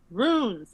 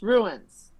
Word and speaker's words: runes: Runes is not pronounced ruins ever James Mar.